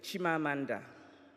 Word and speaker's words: Chimamanda: very good to be back my name is shima Amanda in Ybor it means my personal spirit will